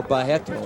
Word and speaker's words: Barreto: of attempts there by Carlos barreto or by heck no as they pronounce it in the real Carlos circling Barlow encircled